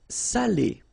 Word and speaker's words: salé: the same adjective here without the accent. So if you don't put the accent, it means dirty, and then you pronounce it sale. But in that case here, okay, you put the accent, and it's quite important because in that case it means salted, okay?